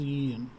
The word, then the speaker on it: y: of quantity that is en okay so this y or we pronounce it as e it is called the